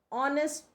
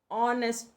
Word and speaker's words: honest: and are now an honest person honest person we are not having the sound of h the h is silent over here so that is why